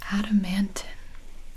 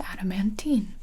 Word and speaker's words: adamantine: for sure all right the last word is adamantin it can also be pronounced adamantine both are fine adamantine is an adjective